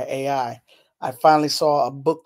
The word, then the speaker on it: Ai: Of course, Amiri Baraka, Larry Neal, Askia Toure, Sonia Sanchez, Nikki Giovanni, Carolyn Rogers, the poet, I believe her name is pronounced AI.